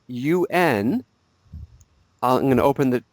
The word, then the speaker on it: un: So the word for a or an before a masculine noun is spelled UN.